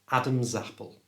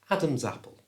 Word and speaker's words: Adam's apple: To say it correctly, move the S from the end of Adam's, which is pronounced Z, over to the front of the A of apple, so it becomes Adam Zapple.